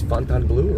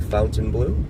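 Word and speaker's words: Fontainebleau: There is fontan blue or fountain blue depending upon how you want to pronounce it.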